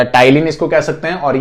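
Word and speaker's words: ptyalin: P silent रहता है तो टाइलिन पढ़ते हैं इसको।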